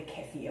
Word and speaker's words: kefir: as well i love water kefir or kefir however you want to pronounce it tibicus you know the